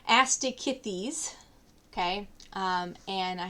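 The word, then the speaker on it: Osteichthyes: to the next class which is pronounced asti kit these okay um and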